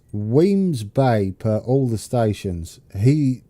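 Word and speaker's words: Wemyss Bay: some lovely mods Stobart rail how do you pronounce this I've always wondered is it Musk you had some on your video it's Weems Bay per all the stations he he does uh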